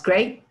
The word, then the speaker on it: great: Esta E-I. Great, that's so great. That's a great lesson.